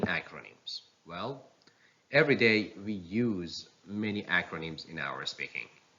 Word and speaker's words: US: Yes, the last syllable takes the stress. It means it should be pronounced louder, longer, and higher in pitch. So these two acronyms are pronounced like US, WHO, US, WHO.